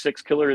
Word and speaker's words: Sixkiller: Sixkiller is his last name. It's spelled exactly like it sounds.